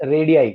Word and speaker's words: radii: रेडियाई, द Radii of, pronunciation is रेडियाई.